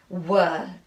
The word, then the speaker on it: were: remember haven't i that there's a silent e on the end that i see but i don't hear and now i can check were w e r e